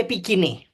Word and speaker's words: Epicoene: well, in Greek, it would be Epicene, but I'm not at all sure that Ben Jonson would have pronounced it the way I pronounce it or his actors.